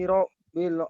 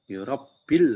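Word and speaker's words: رب: Alhamdulillahi rabbil alamin. Ada tasjid Bang. Rabbil alamin. Rabbil. Ya. Rabbil. Kalau ada ro atas itu bacanya tebal Bang.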